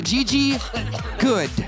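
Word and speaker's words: Goode: Next up, the E is silent, she says, is Gigi Good.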